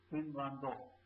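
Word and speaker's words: フィンランド: Finland is pronounced as Finlando.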